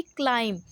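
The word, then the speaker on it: climb: तो it will be क्लाइम सी एल आई एम क्लाइम now come to dense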